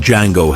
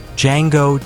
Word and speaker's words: Django: Django, Jamie Foxx. "The D is silent, hillbilly."